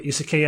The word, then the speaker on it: isekai: Am I pronouncing that right? The isekai anime? Yeah, isekai.